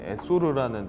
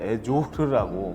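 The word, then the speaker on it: Essor: 저희 에소르 피트니스라는 뜻은 이제 홈트레이닝 때부터 만들어진 상호명인데, 이제 에소르라는 뜻이 정확하게 발음은 에조르라고 프랑스어의 비약적 날개를 달다 이런 뜻을 가지고 있습니다.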